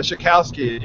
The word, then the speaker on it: Shokalskiy: The Shokalskiy is the pronunciation.